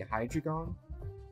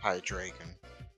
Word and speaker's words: Hydreigon: what would be a cool combination would be Hydreigon and Dusknoir. That's my thought. For a moment there, I had no idea what the hell you were talking about, but then I realized you mispronounced Hydreigon.